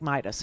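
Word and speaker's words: Meidas: It's spelled almost like Midas, which is why they call it Midas, okay?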